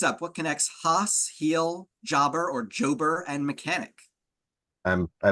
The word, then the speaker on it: jobber: Next up, what connects Haas, heel, jobber, or jober, and mechanic? I believe these are like descriptions of people's roles in professional wrestling. That is correct. And also, it's not pronounced jober.